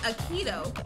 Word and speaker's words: Aikido: I said it wrong. Aikido.